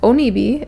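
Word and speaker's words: 鬼火: So, this fireball, this onibi, am I saying it right?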